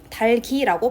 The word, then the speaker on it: 닭이: 닭을이랑 관련이 있는 거죠 닭이 있는 닭이라고 발음하면 돼요 달기라고 발음을 해줘야 됩니다 달글 같은 경우에도 닭을